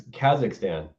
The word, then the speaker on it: Kazakhstan: You don't even know how to say it right. It's Kazakhstan.